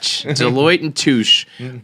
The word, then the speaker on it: Deloitte: to call it dalati deloitte when you work for a an accounting firm and the name of your company rhymes with douche it i mean it